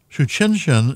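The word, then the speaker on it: Tsuchinshan: able to see it um and shuch chinin is spelled so just to you're trying to do that phonetically it's not phonetic well I guess it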